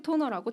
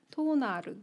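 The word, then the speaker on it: Tónar: 12 토너라고 책에도 12 토너. 나와 오케이, 있는데 오케이. 네네. 토너라고 읽는 게 제가 맞는지는 모르겠지만 네. 여기에 67쪽에 보시면 응. 12 토나르. 토나르. 네. 67쪽? 토나르라고. 아 토나르네 토나르.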